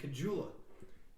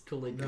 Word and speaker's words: Caligula: I will find somebody saying Cajula. It's Caligula.